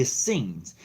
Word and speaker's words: Essenes: part of the Essenes I'm not I'm not mispronouncing that word it is the Essenes and the Essenes was